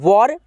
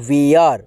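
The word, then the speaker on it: were: यहां पर आप देखेंगे डब्लू ई आर ई इसे हम लोग पढ़ते हैं वर या दोस्तों वेयर ठीक है आप दोनों में से कोई एक का उच्चारण कर सकते हैं ठीक है वर या वेयर ठीक है इसका हिंदी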